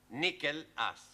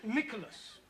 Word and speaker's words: Nicholas: upon a times there was a man called nickel ass it's not quite right no once upon a time there was a woman called nickel ass it's pronounced Nicholas all right once upon a time there was